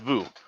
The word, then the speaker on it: Veuve: It's Vu. I think it's Vu Clicquot. I thought it was Veuve or Veuve. Vu. It's Whatever. Vu. Yeah, no, because the UE at the end is silent.